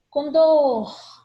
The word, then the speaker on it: condor: Então, oxítonas, última sílaba tônica. Condor, condor, condor. Condor é um pássaro, tá? Condor. Essa palavrinha, muita gente fala a pronúncia dela errada.